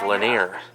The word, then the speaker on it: Lanier: So the nice lady was saying that you actually pronounce Raymond's name as Lanier. I was close, but no cigar on the pronunciation of the last name.